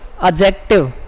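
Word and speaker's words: adjective: आता है, कभी भी ए और जे के बीच में अगर डी आ जाए तो इस डी को साइलेंट बोलना है आपको, इसको बोलना नहीं होता, इसको साइलेंट करना होता है।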